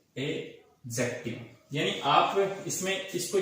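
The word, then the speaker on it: adjective: तीसरा जो होगा हमारा, इसको आप पढ़ेंगे तो आप इसको एडजेक्टिव नहीं पढ़कर इसके अंदर आपको डी जो है उसको साइलेंट समझना है। आप इसको पढ़ेंगे एडजेक्टिव, यानी आप इसमें इसको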